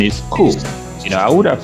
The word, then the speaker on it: coup: So now, coup becomes coup, as in care or hope. So, and this is another word that looks like. Please excuse me. Yes. Is the P silent here? Yes, it's P. silent. It's coup.